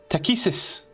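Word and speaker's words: Takhisis: Takesis.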